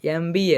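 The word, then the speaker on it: MBA: ಆನ್ ಎಂಬಿಎ ಆಗ್ತದೆ ಆನ್ ಎಂಬಿಎ ಬೇಕಾದರೆ ಉಚ್ಚಾರ ಮಾಡಿ ನೀವು ಎಂ ಅಂತ ಉಚ್ಚಾರ ಮಾಡಿ ಎಂಬಿಎ ಇದು ಅರ್ಥ ಆಯ್ತಾ ಸರಿಯಾದ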